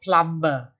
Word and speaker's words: plumber: remember class the word p-l-u-m-b-e-r is not plumber okay the b is silent it is plumber okay